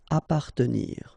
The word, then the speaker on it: appartenir: Okay, double P. Basically, you don't pronounce the double, so you just pronounce appa. Appartenir.